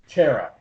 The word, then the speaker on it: Chara: You mentioned that Queen Chara? Chera. Like a chair. Okay.